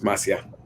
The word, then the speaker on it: Masia: I and I am I pronouncing your last name correctly it's Masia Masia thank you yeah M Masia